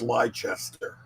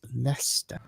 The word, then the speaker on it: Leicester: what is what is lychester next to manchester united it's actually a city next to nottingham where i live and it's leicester it's not manchester it's pronounced master you gotta remove half the consonants if you're gonna speak